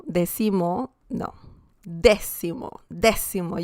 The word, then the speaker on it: décimo: Décimo, décima. So that's the correct pronunciation. Please don't say decimo, decimo. No, décimo, décimo. You have to emphasize the first 2 letters, or rather the letter E.